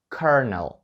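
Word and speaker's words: colonel: це слово тому що в правильній вимові є буква R а в самому слові її немає воно вимовляється як carnal я уявлення не маю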